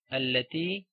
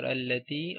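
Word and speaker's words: التي: Okay, so these words, okay, the words belonging to this family, like alladhi, alladhina, allati, allati, allai, or alladhani. Okay, words like that you always read with a fatha on hamzatul wasl.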